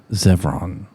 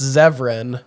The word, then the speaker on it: Zevran: Zevron coming He does. to a You look movie at theater near his you. eyes. Incorrect way to pronounce it. We changed it now. No, it's Zevran.